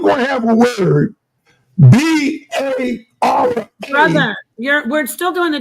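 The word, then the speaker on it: בָּרָא: So that word is pronounced bara.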